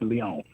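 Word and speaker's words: Lyon: I'm pronouncing that right but it's spelled l yo n so I'm guessing it's Leon so they um um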